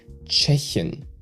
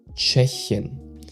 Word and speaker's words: Tschechien: And the problem here is that you pronounce the ch at the start like a CH in cheese and not like a T with a SH after that.